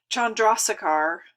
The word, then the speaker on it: Chandrasekhar: and squishes it so Chandrashekhar is how you say this name this was a really